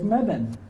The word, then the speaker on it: Mebane: And so early on, I needed some pronunciation assistance, and Mac Williams was happy to tell me that I was pronouncing the next city incorrectly. So thankfully, I'm able to not embarrass myself when I introduce Ed Hooks, who is the mayor of the city of Mebane, to the microphone.